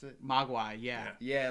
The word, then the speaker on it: Mogwai: like little gizmos or mogwas how do you pronounce it Mogwai yeah yeah like I was like yeah that's